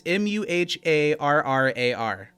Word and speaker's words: Muharrar: It's Muharrar. How do you say it? Muharrar. Muharrar. This is double R, so you got to roll it.